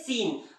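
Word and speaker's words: scene: simple है है ना सी जब भी एस के बाद आएगा तो सी का उच्चारण नहीं किया जाएगा कैसे देखिए सी आई एन आई यासीन नहीं पढ़ते क्या पढ़ते हैं सीन उसी तरह से नहीं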